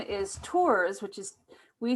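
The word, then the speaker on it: Tuers: yeah um my uh my birth name is tours which is we spell it t-u-e-r-s which would make you think it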